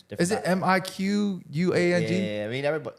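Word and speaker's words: Mì Quảng: Is it Miquang? Yeah, I mean, everybody, it's different accents. Do you not supposed to pronounce the Q? No, I do not.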